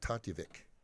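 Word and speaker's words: Tatevik: to show up on OVW TV, just like Tatjevik. Can you say that? Great addition. That is how you pronounce her name. Tatjevik.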